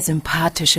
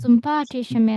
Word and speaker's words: sympathische: Sebenarnya ini Y di tengah-tengah itu dibacanya lebih kayak U ya, upsilon ya. Jadi kayak Ja. sympathische Oh, Menschen ya.